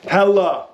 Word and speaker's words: Helle: Oh, Helle, not Helle. We all thought it was Helle. Yep. Helle, the guy came in, told us, great guy. So just want to let you guys know that we're not mispronouncing it.